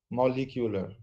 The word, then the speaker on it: molecular: this is very common everybody says molecular molecular it's molecular then it's not atmosphere at